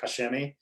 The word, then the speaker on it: Koch Chemie: it correct yeah so technically the proper way is caulk and then shemi but they miss the in the middle so it's just i always say kashimi because that's basically how